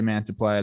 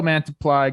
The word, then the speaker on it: Mantiply: uh he's in arizona jake yes yo the pronunciation key is is weird okay i was going to say mantiple that messed me up joe mantiply go check out what he's doing brent strom